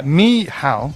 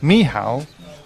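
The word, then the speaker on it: Michał: olowski we've had some pronunciation um uh instructions from Poland yeah me how me how or lofski Hal olowsky okay yeah we'll do our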